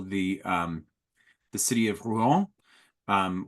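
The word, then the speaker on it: Rouen: um the city of Ru um which has something like a b syllable in in English is uh always spelled as a monosyllable in Shakespeare r o an like the horse Color um and it that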